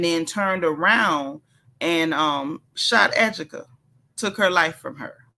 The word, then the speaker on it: Ajike: Her name looks like Ajike, but they literally pronounced it Ajike. Don't ask me why.